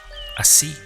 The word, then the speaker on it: así: All of that is covered in Spanish with one little word, which is así, Así. with an accent over the I.